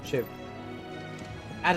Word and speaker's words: Shiva: You know, like the tool, Shiv. Add an A to it, Shiva.